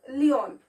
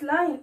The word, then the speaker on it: lion: All right, it's lion, l-i-o-n. I is coming first, isn't it? Therefore you have to pronounce it as lion, not leon. Okay, or loin. Some of the students pronounce it as loin.